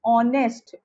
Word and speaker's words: honest: Because pronunciation honest o is coming and o is vowel, so we use an